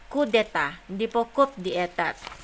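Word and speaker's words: coup d'état: we have your code okay dispel the proper pronunciation is kudeta as provided in your article 134-8 is okay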